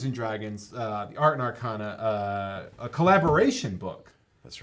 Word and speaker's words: Arcana: I had to look up Art and Arcana or Art and Arcana. Art and Arcana. Art and Arcana. Like Americana. Americana. But Dungeons and Dragons, the Art and Arcana, a collaboration book.